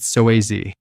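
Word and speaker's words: psoas: The muscle I'm talking about is called the soass. That's spelled PSO, but pronounced soaz.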